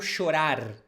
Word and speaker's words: chorar: Eu sei que vou chorar. It's also common, you hear people not even pronouncing the R at the end.